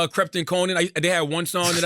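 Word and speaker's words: Konan: But I used to like Crepton Conan.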